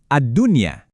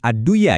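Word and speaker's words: الدنيا: Kata pertama, addunya. Di sini ada nun mati ketemu ya dalam satu kata. Jadi, bacanya wajib jelas. Adunya. Sekali lagi bukan adduya ya.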